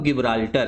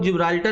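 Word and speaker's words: Gibraltar: उसका नाम है स्ट्रेट ऑफ गिबराल्टर। क्या नाम है? Straight of गिबराल्टर। अब इसको आप लोग जिब्राल्टर भी बोल सकते हो, जिब्राल्टर भी प्रोनाउंस कर सकते हो या जिब्राल्टर जो आपका मन है।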